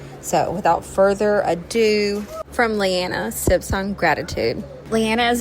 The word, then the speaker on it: Leanna: How do you pronounce it? Lyanna.